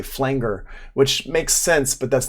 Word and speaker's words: flanger: Some good examples of insert effects are compressors, EQs, gates, distortion, chorus, flangers, phasers, filters, wahs, stuff like that. Also, this here is not a flanger, it's a flanger. A flanger is how you pronounce that word.